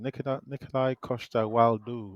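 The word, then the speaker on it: Nikolaj Coster-Waldau: yeah, That is how you say his full name, Nikolai Costa Waldau or Waldau.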